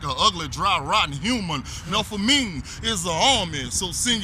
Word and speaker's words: Melpomene: Its former structure was the Melpomene, which is actually pronounced Melpomene and is documented as the Gus High Rise.